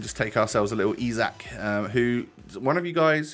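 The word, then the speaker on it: Isak: yeah we can just take ourselves a little ezac who one of you guys who was swedish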